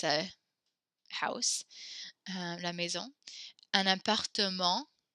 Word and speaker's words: appartement: Un appartement. We pronounce that little E there. Don't forget to repeat after me. Un appartement. There's like a little extra syllable there that's not in English.